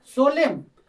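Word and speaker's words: solemn: सोलेम, सोलेम, एन साइलेंट हो जाता है, सलीम।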